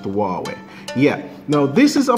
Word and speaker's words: Huawei: look at the Huawei y360 yes this is pronounced huwei yeah now this is a phone that is